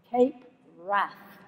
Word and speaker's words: Cape Wrath: I love the way the forecasters pronounce it, Cape Wrath, always with an A as flat as that in Bradford.